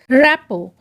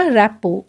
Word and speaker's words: rapport: अच्छा देखिए, रैपो इसमें एंड में R और T तो है लेकिन वो साइलेंट है। R और T का प्रोनाउंसिएशन यहाँ पे नहीं होगा। इस वर्ड को बोला जाएगा रैपो, RAPPORT, रैपो मतलब है घनिष्ठता।